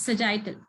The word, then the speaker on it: sagittal: one very good so how do you say it the sardine yes very good it's sagittal so the axial is